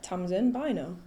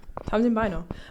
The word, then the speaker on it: Tamsin Bynoe: Tom's in by now. Yeah, times in bino.